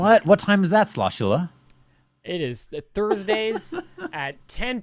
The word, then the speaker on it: Sloshula: And if you're just listening, sound it out. I promise you. It's how you think it's spelled. Sloshula. Sloshula.